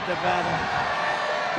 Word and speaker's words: Nevada: we love it and you always have to say it correctly Nevada you Ain got to call it Nevada with thousands of proud